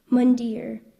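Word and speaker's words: mandir: I have the definition please a Hindu temple mundar m a n d i r mere correct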